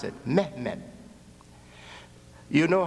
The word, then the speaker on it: Mehmed: They call him Mehmed. That's how they pronounce it. Mehmed.